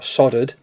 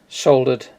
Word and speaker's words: soldered: there is crimped and soldered or soldered as you Americans say soldered the the wire on